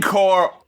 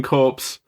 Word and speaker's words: Corps: know you know Marine core is not a chore You know despite what you may have heard if you pronounced it how it looks your rhyming options are limited I love Marine corpse I don't want to